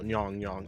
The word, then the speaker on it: Nyong: Nyong, spelled like gong, but NY, so Nyong on Pixiv, and he used to draw.